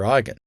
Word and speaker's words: eigen: For example, the method named after eigen. Eigen, pronounced I like your I, and then eigen, is a German word that means own or innate, as belonging to the parent matrix.